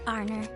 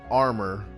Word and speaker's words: Arnor: arabonia alvin ray say arnor it took me a while to not pronounce their name as armor because my arm my honor armor it sounds very similar to me you know what i think